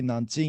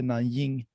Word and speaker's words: Nanjing: You want to say Nanjing, you say Nanying. Like, but we Swedes, we don't like to pronounce the j too much. We just say ying instead.